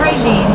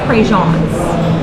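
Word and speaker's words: Prejean's: been saying it incorrectly it's not regimes it's prejeans and so that's the cajun way to say it so normally they have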